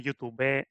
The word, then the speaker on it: youtuber: reivindic la pronúncia de youtuber amb accent a la E, com forner, bomber i totes les professions en català.